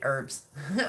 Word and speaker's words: herb: H is silent. Seriously, herbs.